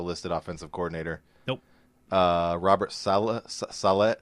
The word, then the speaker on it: Saleh: Robert Saleh. How do you say that name? Saleh. Saleh? That's how I've been saying it. I always wanted to say Saleh. The Better Rivals podcast pronounces it Robert Saleh.